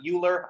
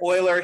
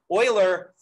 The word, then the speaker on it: Euler: time ago his name is leonard euler that's pronounced euler not euler i messed that up when i first started learning math too so uh leonard euler he did all sorts of cool things in